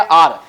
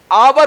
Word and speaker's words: our: देखिए OUR उच्चारण हो गया आर, ध्यान रहे। तो बहुत सारे व्यक्ति होते हैं UR OUR जो होते हैं आवर उच्चारण करते हैं, जो कि बिल्कुल गलत है। स्टूडेंट ही नहीं बल्कि बहुत सारे टीचर ही आवर कहते हैं, जैसे आवर कंट्री, नॉट आवर कंट्री।